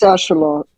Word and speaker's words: axolotl: It's axolotl. What? In the actual Maztec language, you pronounce the X with the ch.